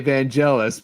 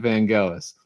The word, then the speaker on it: Vangelis: Well, if you're American, most of them say Vangelis, but if you're actually like from the England and from Greece himself, pronounces it Vangelis.